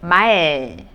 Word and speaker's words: 말: The first one is M sound, mu. And then the vowel A, so you could see ma. And then another consonant was used here, L sound, right? In that case, if the second consonant is used, that consonant must go under the syllable ma. So that looks like this. 말. 무, 아, 르. So 말.